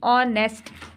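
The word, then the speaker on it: honest: है नेक्स्ट है ऑनेस्ट नेस्ट में एच साइलेंट है बच्चों एच इसमें नेस्ट नहीं बोल रहे हम ऑनेस्ट ठीक है तो इसमें एच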